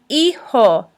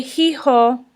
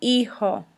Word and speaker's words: hijo: referred to as el hijo the H is silent we don't say he ho it's a ho el hijo please repeat so if